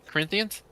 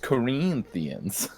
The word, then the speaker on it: Corinthians: Corinthians.